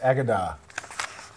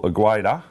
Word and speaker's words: Agueda: Now, it's pronounced Agadar. So Anthony was telling me yesterday. Yeah, well, Agueda. That's how it reads, isn't it?